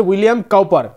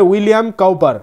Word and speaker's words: William Cowper: একটা কবি লিখেছেন তো সেই কোভিদ নাম হচ্ছে উইলিয়াম কাউপার উচ্চারণটা ভালো করে করতে হবে উইলিয়াম কাউপার সিও ডবউ পি উইলিয়াম কাউপার উইলিয়াম কাউপারের লেখা সনেল কবিতাটি কি বলছে সেটি